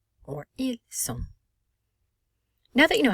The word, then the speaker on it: ils sont: But also notice how we cannot pronounce the final T, and the N does not have an E following it. So the N is not pronounced, and O is nasalized.